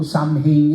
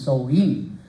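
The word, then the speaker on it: Samhain: nagsimula doon po sa tinatawag na soin no Hindi po Sam hein yan ang pronunciation niyan is soin Yan po ay isang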